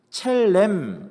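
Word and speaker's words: צלם: 히브리어에 보면요, 이제 구약 성경에 첼렘, 원래 발음은 첼렘입니다. 근데 니을이 이제 두 개 있어서 그냥 체렘 이렇게 쓰는데요.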